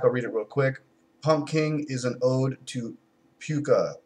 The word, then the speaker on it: Pumking: It is the Southern Tiers Pumking Imperial Beer. Or should I say Imperial Pumping Beer. Now that is spelled Pumking without the P in the middle.